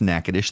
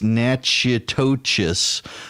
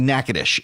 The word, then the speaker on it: Natchitoches: the name NACA dish you won't know it's pronounced NACA dish that's how you can tell a native of Louisiana from someone who's not a native of Louisiana if you're not a native of Louisiana it's natchy totus but it's actually NACA dish and it's Natchitoches